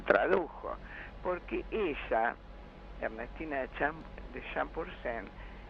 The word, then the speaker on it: Champourcín: ella, Ernestina de Champursen, aunque muchos dicen Champursin, y le ponen tilde, el tilde español, no el tilde grave francés que vendría ahí. Bueno, yo lo pronuncié en francés, pero no sé, capaz que se pronuncia diferente. Yo le digo Champursen, pero en realidad aparentemente es Champursin. Ah, es Champursin.